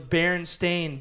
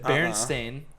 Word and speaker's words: Berenstain: People, it's spelt like a stain.